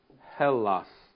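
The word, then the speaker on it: Ἑλλάς: what the name of Greece is in Greek Hellas hos there's a ha and then a capital e l Lambda Lambda Alpha Sigma Hellas and that comes from Hela or Elisha helas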